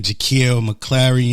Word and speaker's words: Jakeel McClary: In the building tonight in the hot seat, we got my man JAKEEL, Mcclary in the building.